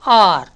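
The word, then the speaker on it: hour: இந்த H is silent. அப்போ எப்படி உச்சரிக்கும் பாருங்கள், சவுண்ட்ஸ் லைக் R. ஹார்னு சொன்னால் தப்பு, ஹெச் உச்சரிக்கக்கூடாது, அண்ட் ஆர்.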